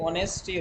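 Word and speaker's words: honesty: best policy बेटा यह ऑनेस्टी रिदा specially आपको बता रहा हूं ऑनेस्टी में जो ये एच है एच ये साइलेंट रहेगा क्या रहेगा ये साइलेंट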